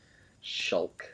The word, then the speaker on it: Shulk: his real name is shulk shulk yeah it spelled like chalk but with an s in the front so it sounds like shulk shulk okay what in